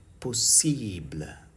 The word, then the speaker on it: possible: in French is called possible. Possible. Now notice the words ending with IBLE in English, IBLE in English, the same words are pronounced as ible. So possible in English becomes possible in French.